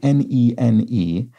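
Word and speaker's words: nēnē: The bird, an occasional inhabitant of the New York Times crossword spelled N-E-N-E, has the straight bar accent above each E and is pronounced nene.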